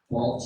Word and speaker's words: Balch: Balch, it rhymes with mulch.